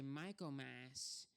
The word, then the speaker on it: Michaelmas: I mean, if you were to, pronounce it correctly, we would say Michaelmas instead of Michaelmas.